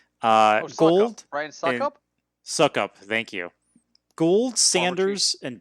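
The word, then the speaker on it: Succop: So for me, I'll just say, my top 5 are Koo, Zerline, Bucker, Scoop. I never pronounced that right. Gold. Brian Suckup? Suckup, thank you.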